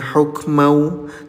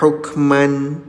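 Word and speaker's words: حكمًا: Kenapa dibacanya hukmau tidak hukman? Ya, karena terjadi hukum tajwid di sini ayah bunda ya. Namanya idag ggam bighunah. Cara bacanya, leburkan bunyi tanwinnya ke huruf wau disertai dengung selama dua harakat.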